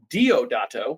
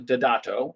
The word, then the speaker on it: Deodato: roero datato or uh excuse me diod would be the American pronunciation but in the things that I've watched since it's uh pronounced datato in Italian and written by Jean